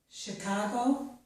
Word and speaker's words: Chicago: Here we have words with the letters CH, which make the sh sound. This is charade, chef, Chicago, machine, mustache, and brochure.